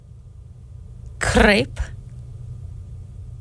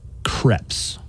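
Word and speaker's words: crêpe: Here's another dessert that people mispronounce a lot. Okay. See how you do on this one. Crepe. No. No? Mm-mm. Damn. The waiters are going to be laughing at me. It's crepes.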